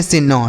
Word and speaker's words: soon: एन से हो गया नो, एन से नो, डबल ओ का उच्चारण बड़ा ओ की मात्रा, यह लिखा है नून।